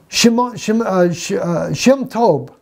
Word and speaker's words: Shem Tov: My friends, I mean, Shem Tov, that's how we say his name, Shem Tov's Hebrew Matthew, right there, plain as day.